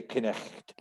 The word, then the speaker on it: Knecht: Germans would pronounce those letters. They would say Knecht.